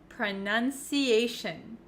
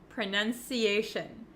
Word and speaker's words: pronunciation: but for pronunciation and any word almost that ends in t-i-o-n we actually pronounce it as shin shin so you can see